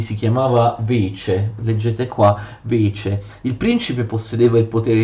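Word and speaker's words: вече: L'assemblea generale dei cittadini si chiamava Vece, leggete qua, Vece.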